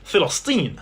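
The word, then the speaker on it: فلسطين: You see, in Arabic, there is no letter P. They pronounce it Filastin.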